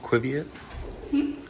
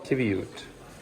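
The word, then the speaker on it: qiviut: How's it pronounced? Quiviate?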